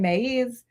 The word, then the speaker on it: maíz: I can't speak Spanish, so I'm going to mangle this, but sin maíz, sin país, I think, something like this.